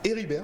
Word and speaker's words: Héribert: Donc Donald Héribert, c'est Héribert simplement, le T ne se prononce pas.